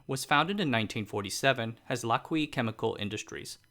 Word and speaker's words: Lak-hui: The company that would eventually create LG Chem and LG Energy Solution was founded in 1947 as Lucky Chemical Industries, pronounced Lucky.